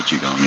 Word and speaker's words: Qigong: bit and cried because you were able through Qigong. Did I say it right this time? Medical Qigong, yeah.